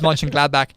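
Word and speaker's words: Mönchengladbach: glad back I just you said it right you got it right I was gonna ask you rob who's in fifth place and it is Ming gladbach um and also the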